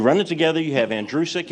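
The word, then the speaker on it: Andrucyk: in reality uh my the last name is pronounced like the boy's name Andrew who is sick you run it together you have andreusic it's that simple it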